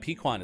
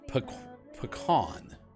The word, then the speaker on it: pecan: I recently found out that pequon is actually an indigenous American term just a second please it is officially pecan pecan is how you actually say it uh we will stick